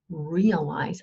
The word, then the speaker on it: realize: wieder oder zurück heißt, aber die Betonung ist auf der ersten Silbe und es ist realize, also es ist ein Green Sound, realize.